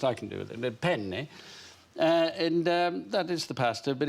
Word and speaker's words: penne: In Italian, it's very important that you pronounce a double consonant. There are two N's in the word. So you say it... How do you say it properly? Penne. Penne. So you've got bigger N's.